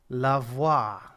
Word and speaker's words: LeVoit: it's it's French yeah it rhymes with Mah um so uh before